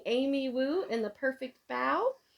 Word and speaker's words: Bao: But the Americanized pronunciation is usually Bao. And it says Bao like bow, not like bow, like the kitty's wearing a bow around her neck or in her hair.